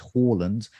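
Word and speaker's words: Haaland: the live chat about how to pronounce his name apparently uh horland says harlan's is fine uh but uh but then a norwegian has come into the chat saying it's in fact horland um so i'll let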